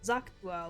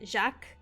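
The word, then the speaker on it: Xak: uh which leads to Zach or I think he I think Aaron Vale said it was like Jac like the x is pronounced more like a j lur Now by later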